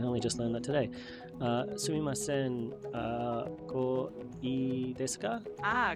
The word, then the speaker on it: Sumimasen: Sumimasen. Perfect. Sumimasen was spot on. Now, how would you say I would like this when pointing at something? I think it was... we only just learned that today. Sumimasen, ko ii desu ka?